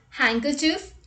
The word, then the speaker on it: handkerchief: word with silent d rule number one d is not pronounced in the following common words let's look at the examples handkerchief wednesday sandwich handsome let's